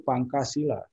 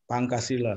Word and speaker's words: Pancasila: Ya, mereka mempronounce Pancasila itu Pangkasila. Pancasila. Jadi ya, maksudnya Pancasila.